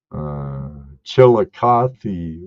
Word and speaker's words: Chillicothe: I was gonna pronounce that wrong. Chillicothe, Washington, or Ohio, I think it is.